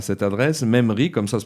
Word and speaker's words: MEMRI: pourront après l'émission se référer à cette adresse même ri comme ça se prononce m haies mairie point fr on a